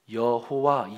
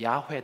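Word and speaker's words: 야훼: 없다 많이 떨어진다 그러면서 결국은 가장 가까운 합리적인 발음은 야외 다 이렇게 얘기를 한 거죠 그런데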